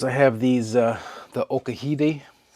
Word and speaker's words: Okahide: have these uh the Okahiti. Okahiti. Yeah, that's how you say it. Spelled like okahide, but the Japanese pronunciation, the proper way to say it from what I've been told is uh okahiti.